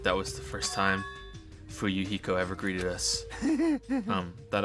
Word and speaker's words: Fuyuhiko: My first name is pronounced fu heo. Fu yuhiko.